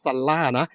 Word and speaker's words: SUNRA: สำหรับ เจ้า แบรนด์ นี้ ซั นะ ครับ ซ่า นะ Su Ra นะ ซ่า นะ อาจ จะ ออก เสียง ล่า เยอะ เกิน ไป นิด นึง ล่า ล่า ๆ เลย